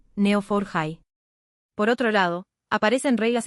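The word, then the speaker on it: Neo4j: Por un lado, aparece el conocimiento estructurado que puede representarse en un grafo, por ejemplo, con neofor high pronunciado neofor high.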